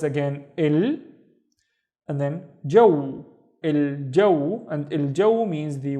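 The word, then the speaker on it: الجو: The first syllable is again il, and then jaw, il jaw, and il jaw means the weather, il jaw,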